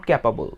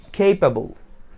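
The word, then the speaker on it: capable: এখানে যে উচ্চারণটা আসে ভুল আমরা যেটা করি সেটা হচ্ছে ক্যাপাবল, ক্যাপাবল, নট ক্যাপাবল, ইটস খেইপাবল, খেইপাবল, খেইপাবল।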